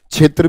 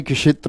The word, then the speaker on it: क्षेत्र: क्षेत्र भी नहीं होता है, क्षेत्र होता है।